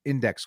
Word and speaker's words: INDX: his wife Caitlyn of indx coin pronounced index coin um they took to